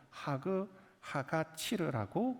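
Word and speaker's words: חג הקציר: 그리고 수장절을 지키라 말씀하셨습니다.이 가운데 우리 다음 주일날 우리가 지금까지 지키고 있는이 맥추절이라고 하는이 단어 이것을 히브리어로 하그 하가치르라고 그렇게 발음을 합니다.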